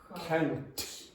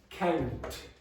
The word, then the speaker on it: count: couch or coach, because that T in Brazilian Portuguese very often is going to sound like ch to my ear. So I go, couch, coach. Okay, so say that again. Count. No, not ch. Do you hear the difference between my T and Tachi's? Okay, so I'm going to say it. Count. Count. Okay, you can still hear a bit of it.